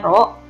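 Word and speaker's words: ρ: rok itu pro itu massa jenis ya dibacanya Roro kemudian G itu gravitasi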